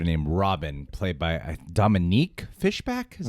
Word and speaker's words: Fishback: got this character named robin played by dominique fishbach that's how you say it all three do